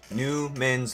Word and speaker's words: Numen: are characters I made for my series called Newman's law Newman's law say it right n u m e